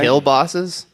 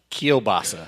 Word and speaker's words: kielbasa: kill bosses? Like, didn't you? Bratwurst. No. Bratwurst. that's Bratwurst. right. Yeah. Kill bosses. Kielbasa.